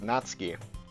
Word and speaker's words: Natsuki: And Natsuki made Oh, wait. Yeah, I figured out her name is actually pronounced Natsky.